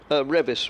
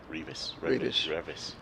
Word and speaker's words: Revis: We are assured by Liversedge Owl that the batsman who's not Bairstow, his name is pronounced as Revis rather, not Revis.